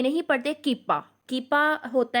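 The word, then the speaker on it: κ: और इसको हम के से रिप्रेजेंट करते हैं, और इसको बेसिकली के नहीं पढ़ते, कीपा होता है ये, और कीपा से इसको प्रोनाउंस करेंगे हम, कीपा इसको पढ़ेंगे।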